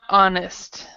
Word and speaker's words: honest: this word, honest, we actually don't say the H. Okay? So we would say is not honest.